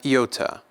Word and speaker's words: iota: Iota has two different pronunciations, a short and a long in the Erasmian pronunciation, like the I's in idiom, the first one being short and the second one being long. Idiom, idiom. Kappa is going to be